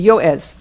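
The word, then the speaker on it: יועץ: Not Joez, it would be Yoez.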